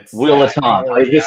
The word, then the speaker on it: Will Ettante: It's just pronounced Willant, but it's Willant.